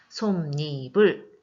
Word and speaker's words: 솜이불: 자, 그 다음에 솜이불. 자, 이것도 논일처럼 앞에 있는 미음이 뒤에 모음으로 시작되는 이로 만나서 니은이 첨가가 돼서 발음이 되네요. 솜니불 첨가입니다.